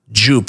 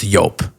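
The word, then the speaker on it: Joop!: orange juice okay and jup which is I guess pronounced yope and I'll never forget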